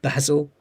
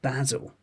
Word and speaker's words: basil: So basil. So the answer is British pronunciation. Basil. Basil. In American, it'll be basil. Basil. Tends to be.